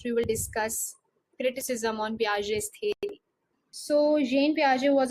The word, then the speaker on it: Piaget: Jean basically pronounced as Jean and the second name is pronounced as Piaget's. So collectively it is Jean Piaget's theory of cognitive development.